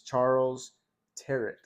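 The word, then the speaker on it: Charles Tyrwhitt: Uh, I'm going to try to pronounce it correctly because I just, uh, learned how to pronounce it. It's Charles Terret.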